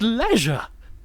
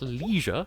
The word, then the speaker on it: leisure: from the previous stream it's pronounced leisure i'm not american its leisure not leisure got them lesions are wounds